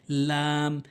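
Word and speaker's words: ل: এরপর হচ্ছে লাম, লাম, লাম, জিব্বার আগার কিনারা মারির সঙ্গে লাগাতে হবে, জিব্বার আগার কিনারাটি মারির সঙ্গে লাগাতে হবে। লাম, লাম, লাম, লাম, এটি একটি নিয়ম।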